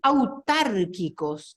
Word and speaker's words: autárquicos: Entes autárquicos, ¿qué pasa ahí también con esa palabra? Lleva acento. Lleva acento, es Autárquicos. autárquico. Sería, en la clasificación de acentuación, ¿qué tipo de palabra? Esdrújula. Esdrújula, siempre lleva tilde, termine en NS o